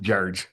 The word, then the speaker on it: St. George: So, it's pronounced St. George when you live there, by the way. St. George, that's how they say it. Jarge.